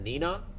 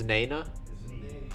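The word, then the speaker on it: Née-Nah: Is it Nina? Whatever that shit is. Oh, it's Nana.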